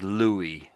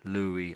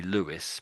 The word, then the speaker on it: Louis: So this is normally it's pronounced as Louie. Louie Armstrong. Louie. Not not really Lewis, but Louie.